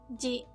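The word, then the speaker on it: ぢ: And with tenten, it makes the sound ji, ji. Do you remember the other ji? Shi with tenten. They have the exact same pronunciation.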